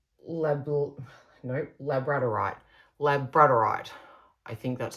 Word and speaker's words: labradorite: Labradorite. Labradorite. I think that's how you say it. I always see it in my head as Labrador. Right. But that's obviously not it at all.